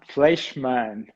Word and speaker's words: Fleischmann: doing well i will try an attempt of pronouncing your last name so here it goes fleischmann beautiful did i say it right it was